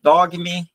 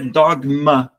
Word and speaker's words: Dogme: Em português, tudo bem, Dogme, tá tudo certo, não tem problema. Em inglês, existe uma pronúncia muito comum que é Dogma.